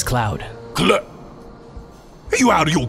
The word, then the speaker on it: Cloud: Where is at? No here today. Barret? Yes, sir. The name's Cloud.